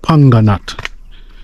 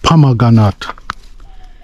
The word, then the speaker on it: pomegranate: Some of me can sometimes pronounce the fruit as panganat, yeah, but the right pronunciation is pomegranate, you know.